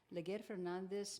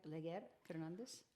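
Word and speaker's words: Leger Fernandez: Leguer Fernandez makes spectacularly dumb claim about Biden's border.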